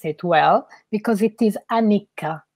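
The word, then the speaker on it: anicca: situation let me see if i'm able to pronounce it well because it is anika correct anika yeah so it can be called so that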